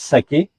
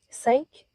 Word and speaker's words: Sake: Saké, en tout cas, je ne sais pas si ça se prononce Saké. Est-ce que ça se prononce Saké? Non. Non? Sake? Ah, Parfait. Plus sec.